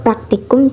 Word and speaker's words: praktikum: Kata praktikum salah secara fonologi karena terjadi penambahan bunyi e di awal kata. Kata baku yang benar adalah praktikum. Penambahan fonem menyebabkan kesalahan pelafalan. perbaikannya. Iya, besok praktikum jam 800 pagi.